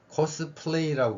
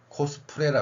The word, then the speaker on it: 코스프레: 이거예요 그러면 거기까지 됐으면 코스플레이 발음을 해야 됩니다 그럼 플레이라고 발음해야 되는게 우리의 기본 언어 상식이다고 생각 하거든요 맞잖아요 그 플레이라고 읽을 수 있고 우리는 발음할 수 있습니다 근데 플레이에서 리를 받침을 못합니다 그럼 어떻게 할까요 코스 프레라 하는 겁니다 이게 일본 발음이지만 단어지만